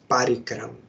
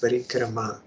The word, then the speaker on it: parikrama: I heard some devotees, they say parikram. We will go on parikram. But that is not proper pronunciation. It is parikrama. That A at the end is long one.